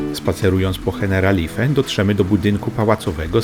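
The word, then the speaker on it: Generalife: Ich nazwy wymawia się Heneralife i pochodzi ona z arabskiego.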